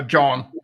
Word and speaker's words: Jon: Um, is do I pronounce your name John or Yan? Uh, John.